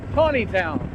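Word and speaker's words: Taneytown: we're not going to gettysburg we're going to tawneytown it is spelled chaneytown but it comes out is it's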